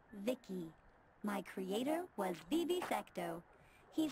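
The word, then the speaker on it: VICI: By the way, I'm V-I-C-I, pronounced Vicky.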